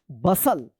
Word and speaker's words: bustle: BUSTLE, क्या पढ़ेंगे, बसल, बसल, BUSTLE, बसल। HUSTLE, हसल।